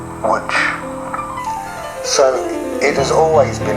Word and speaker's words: Łódź: Poland, in the city whose name is written Lodz but is pronounced Łódź.